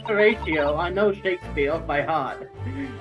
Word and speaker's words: Horatio: Horatio, there's this Harito. I am not No, it's Haruto for- either. It is pronounced Horatio.